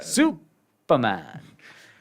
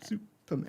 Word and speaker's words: Superman: you mean Superman Superman you got to put the break in between Su and then Perman Superman for the Australian it's only the Australian version that that pronounces it like that the American version Superman like with snake in